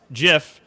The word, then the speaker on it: GIF: apparently i misspoke earlier it's pronounced jif not gif just like peanut butter what do you mean